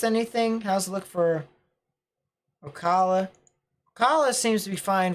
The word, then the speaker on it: Ocala: super cell to watch this one right here ocala that's how it's pronounced see i appreciate it when people correct